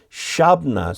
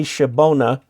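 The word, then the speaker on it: Shabbona: Flatlander, the park is actually pronounced Shabna State Park. If you say Shabona, they'll think you're from Chicago.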